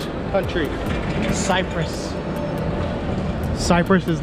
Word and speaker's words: Cyprus: bad I am in Limassol Cyprus it is Cyprus is not tsipras I looked at the pronunciation I heard other people here in Cyprus